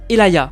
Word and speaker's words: Atelaya: dans la boutique et pour mon nom ça se prononce Elaya.